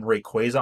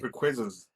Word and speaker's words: Rayquaza: It's pronounced Rayquaza. When I was a kid, I called him Rayquaza, but his name is actually Rayquaza, which I kind of think sounds cooler because it's like Quasar, which is where they pull his name from.